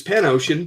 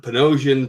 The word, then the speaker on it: Panosian: Like it's Pan-Ocean, but I hear Panosian, Panosio.